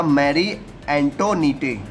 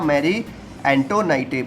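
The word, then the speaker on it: Marie Antoinette: Austria country है, वहाँ की वो प्रिंसेस थी जिसका नाम था मैरी एंटोनीटे। क्या था? मैरी एंटोनाइटे। मतलब अलग अलग नाम से ये लोग प्रोनाउंस किए जाते हैं।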